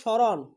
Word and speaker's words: স্মরণ: শব্দের শুরুতে ম ফলা থাকলে সেই ম ফলার উচ্চারণ হয় না। তার মানে শব্দের শুরুতে যদি ম ফলা থাকে, যেমন স্মরণ, স্মরণ, শ্মশান, শ্মশান, আমরা বলতে পারি স্মারক, স্মারক, আমরা বলতে পারি আমরা